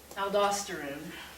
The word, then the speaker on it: aldosterone: Aldosterone. The video, they're going to say it aldosterone, because I think they're Australian. Either pronunciation is fine.